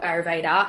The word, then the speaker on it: Ayurveda: It's Ayurveda. Yeah. Okay. I always think it has an N in it for some reason. Yes. But I've been looking myself at studying Ayurvedic or Ayurveda, and I hadn't decided